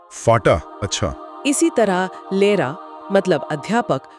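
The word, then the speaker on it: Lehrer: इसी तरह लेरा मतलब अध्यापक को लेरा जैसा सुना जाएगा।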